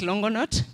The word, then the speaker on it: Longonot: Oh, she's pronouncing it like Ugandan. So it's Longonot. Please, let's proceed.